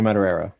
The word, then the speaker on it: Madureira: was magic how do you say his name madura is how I've always said it Joe mad its mad mad Araya though matter reira mater Joe Madureira yeah so this is this is interesting this